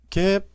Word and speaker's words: GAAP: 흔히 줄여서 gap라고 표현하고 갭 또는 개이고 말합니다 gap고 쓰고 갭이라고 발음을 해 줍니다 일반적으로 인정된이란 용어는 특정